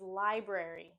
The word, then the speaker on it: library: word is library library another pronunciation I hear all the time is library library they drop the first R and instead of saying BR say in library we want to make sure we're pronouncing both RS two RS library library I went to